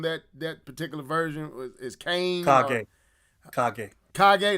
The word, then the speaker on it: Kage: to what they call Cage. I think that's the evil Ryu's name on that particular version is Kane. Kage, that's how you say it. I said Cage.